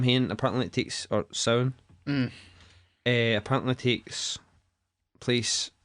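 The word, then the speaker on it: Samhain: He called it Sam Hain. Did he? Fucking Aye. Halloween too. Didn't he ken nothing? It's sound.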